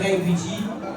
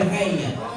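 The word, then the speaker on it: Ray: donc comme disait moi je m'appelle Ri et R ça s'écrit avec R A Y il y a pas de E à la fin mais bizarrement au Congo tout le monde l'appelle rne est-ce que c'est la bonne prononation non mais c'est pas la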